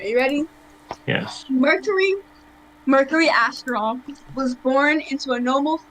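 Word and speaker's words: Asteral: our last name okay your last name is astroth well our last name is astral well you can just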